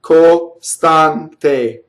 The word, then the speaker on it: costante: So when E's and O's in Italian fall on a non-stress, costante, see the A is the accent again, they are closed.